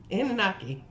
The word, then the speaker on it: Anunnaki: then he gave me the I still can't pronounce it right. The An- The Anunnaki? Thank you. Anunnaki.